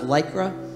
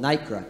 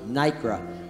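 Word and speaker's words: nacre: and i stand corrected i thought it was lycra i found out in further resource research it's called nikra n-a-c-r-e nikra i stand corrected nicara there's a whole massive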